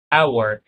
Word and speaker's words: hour: برضو بالنسبة ل an hour هنا ال h silent ونطقت برضو اول صوت عندي hour right so عشان كده خدنا an hour an outfit an honest man اوكي طيب حلو قوي.